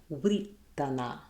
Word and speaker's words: writana: So we would have wuh-ri-ta-na, writana.